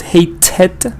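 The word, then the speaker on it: hated: get an extra syllable hate is one syllable but hey tet is two syllables but work when you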